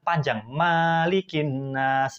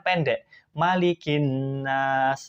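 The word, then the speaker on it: مَلِكِ النَّاسِ: dalam membacanya ayat kedua malikinnas dibaca oleh ibu ini adalah panjang malikinnas padahal harusnya kan Pendek malikinnas harusnya seperti itu kemudian dia membaca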